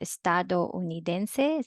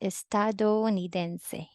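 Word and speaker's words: estadounidense: people pronounce these as estado unidense separate syllable but this is also a diphthong meaning you have to pronounce it as one syllable which makes it as estado nidense right so you can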